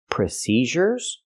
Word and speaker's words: procedures: say recent procedures procedures the word is not pronounced procedures we don't use the z sound for the DU the z sound is used with words like measure treasure pleasure Vision division and usual these words have the z